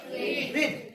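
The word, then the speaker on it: read: হ্যা আমরা কি বলবো রিড রেড রেড বানান একই থাকবে spelling will be same but pronunciation will be different বোঝা গেল প্রোনাউন্সিয়েশন উইল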